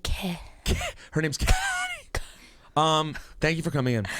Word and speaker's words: Kehlani: And Kehlani is spelled Kehlani. Yes, it sounds like Ke. Her name's Kehlani.